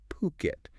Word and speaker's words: Phuket: brought us an intriguing article today titled Fuket Property, a golden investment opportunity. Yeah. And right off the bat, let's make sure we're all on the same page with the name. It's pronounced Puket. Okay. Puket.